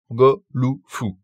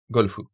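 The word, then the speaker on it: ゴルフ: En japonais, on a le même mot à la base, mais la prononciation se fait en fonction des sons disponibles en japonais. Et ça nous donne go, lu, fu.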